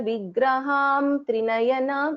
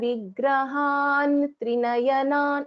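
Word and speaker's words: विग्रहं त्रिनयनाम्: So I will not pronounce this as Sinduraruna Vigraham Trinayanam. No, I will pronounce this as Sinduraruna Vigrahan Trinayanan, and Nakara is heard because the last letter of this Tavarga is Na.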